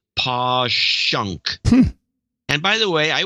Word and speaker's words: Passyunk: the wall and then Passyunk is pong person PA SS y u NK is posh UNK and by the way